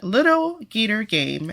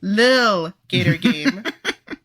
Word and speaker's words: Lil Gator Game: Starting with our standard vote, which is a tie between Little Gator Game. Lil Gator Game. Little. No, there's no T. It's Lil. Lil Gator Game.